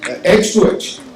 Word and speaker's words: H2H: She is the founder of HIIA Artefacts. Is that how I pronounce it? H2H.